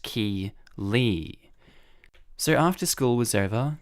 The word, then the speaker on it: Keeley: realized she was calling my daughter Kelly my daughter's name is Keeley pronounced ki Lee so after school was